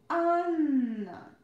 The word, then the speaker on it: Анна: Anna, Anna, Anna. Every time when you see double consonants, you need to pronounce them a bit longer. Okay? Every time make a long consonant sound. It's our pronunciation rule.